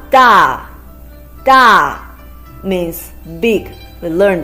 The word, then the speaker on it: 大: It's a combination of de and a with the fourth tone. De a, da.